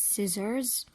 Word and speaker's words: scissors: SC and so on so we don't pronounce the letter C we read the word as if it's not there let's read the examples we have these words scissors send science crescent descend